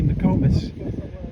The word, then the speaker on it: Nokomis: So that's it for today's update on Nokomis Beach, or as the locals say, Nokomis.